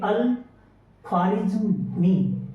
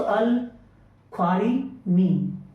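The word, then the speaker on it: al-Khwarizmi: सो आप इनको पढ़ेंगे अल खारिज मी। ठीक है ना? जेड यहां आप साइलेंट रहेगा। सो अल खारी मी।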